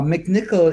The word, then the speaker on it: McNichol: McNichol is, I'm Scottish, right? Mick, McNichol. McNichol.